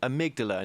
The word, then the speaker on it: amygdala: Well, let's start from the top here because I keep pronouncing this word wrong, amygdala.